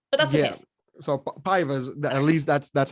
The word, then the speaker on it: Paiva: I heard it earlier and I was like, whoa, I didn't know that's how you pronounce it. I think it's like Halian or Halian Paiva. Paiva is at least how you say the last name.